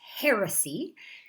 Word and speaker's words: heresy: Be careful on the pronunciation of that word. It is heresy.